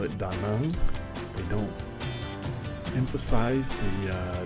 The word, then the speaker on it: Da Nang: Uh, it is spelled da naang, but nobody pronounces it that way. Here, the locals call it daang.